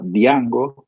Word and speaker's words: Django: producto que se llama dyango se lo pronuncia así como si la j fueron a y django en el mundo java